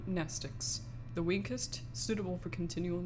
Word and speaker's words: mnestics: Mnestics, Class W, X, Y, and Z. Same Greek root word as mnemonic. The M is silent.